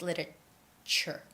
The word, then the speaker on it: literature: literature not literature it's literature we make it with the ch sound and the name of